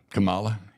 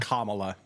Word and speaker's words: Kamala: say her name too Kamala yeah don't don't adapt to what they want you to say say Kamala Kamala it's Kamala like the Kamala Ugandan Giant or whatever in in wrestling it's Kamala I remember him yeah